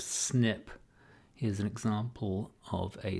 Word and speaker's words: SNP: the population or so snp is pronounced snip here's an example of